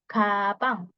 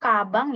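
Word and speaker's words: 가방: jam benda yang lain ada kapang bukan kabang ya Bacanya jangan kabang tapi kapang antara G atau k di tengah-tengah kapang kapang kemudian ada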